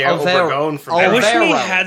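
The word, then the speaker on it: Álvaro Obregón: Alvaro Obregón is how you would pronounce that.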